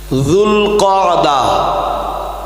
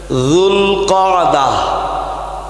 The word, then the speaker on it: জুলকদা: মাস প্রথম মাসের নাম জুলকদা একটু সম্ভব বলে মুখস্ত করে নেন। জুলকদা আমাদের দেশীয় মানুষরা এত ভালো উচ্চারণ না করতে পারায় প্রচলিতভাবে বলেন জিলকদ। আসরে মাসটার নাম হল জুল কদা।